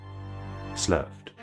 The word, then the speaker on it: sloughed: I actually don't know how to pronounce this. Let's find out. SL sloughed.